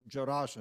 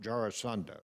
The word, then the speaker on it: Jarasandha: So actually, he was allowing Jarasandha then to, by the way, he's Jarasandha, not Jarasandha. I'm not sure how you learned how to pronounce it, but he was the son of a witch.